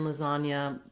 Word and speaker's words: lasagna: Finally, we have an interesting spelling here in lasagna, comes from the Italian. So even though there's the letter G, we have just the N sound, and then we don't